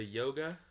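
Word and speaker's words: Jóga: guess I would say yoga like um I know the J is like a y or yoga or yoga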